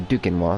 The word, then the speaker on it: Duquesnois: There we go, Duquesnois. That's how you say it.